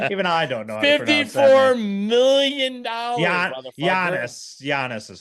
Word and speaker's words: Giannis: Giannis is how you actually pronounce.